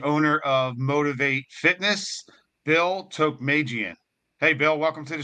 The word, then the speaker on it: Tokmajian: us today the owner of motivate Fitness Bill Tok Magan hey Bill welcome to the show hey